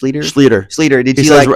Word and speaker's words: Schlueter: Schlueter. He says Seth Schlueter rhymes with Peter.